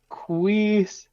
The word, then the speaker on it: Kwisatz: It's pronounced Kwisatz.